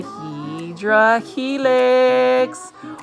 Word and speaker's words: hedera helix: We've got a hedera helix. Or the correct way to say it is hedera helix or English ivy.